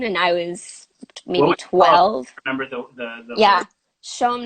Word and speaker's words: CHOM: I was 12 yeah Sean 97.7 Montreal show but it's spelled chom yeah oh my god